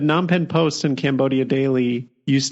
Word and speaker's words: Phnom Penh: for one of them i think phnom penh post but non pen post and cambodia daily